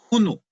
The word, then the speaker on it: hunu: 1,000,000 es hunu. Se escribe H-U-N-U.